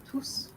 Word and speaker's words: tous: So it's an emphasis and the S is pronounced. Okay. So, yes. So, mes amis sont venus. Oui, tous venus.